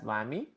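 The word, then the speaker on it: WAME: It is pronounced as WAMI.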